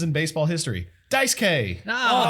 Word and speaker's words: Daisuke: They skipped the U.